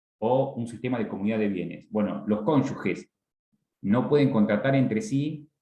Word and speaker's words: cónyuge: Una cosa que digo, y lo pronuncié adrede, cónyuge, porque algunos dicen cónyuge, mal dicho, porque no hay diéresis. Es cónyuge, G-E, cónyuge, así se pronuncia, ¿está?